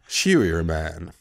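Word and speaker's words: Scheuermann: And it's also known as Shuerman's disease. Right. It's when it's named after a doctor. S-C-H-E-U-E-R-M-A-N-N... Shuerman.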